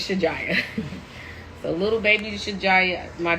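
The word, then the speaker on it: Shajiya: in Arabic is pronounced Shaja, but we're American, so her name is Shijaya.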